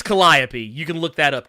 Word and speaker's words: Calliope: upon a time people did you say kaliope or caliope or whatever it's Calliope you can look that